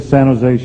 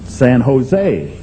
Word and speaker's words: San Jose: he said stupid california don't pronounce a j in san jose well i said i'm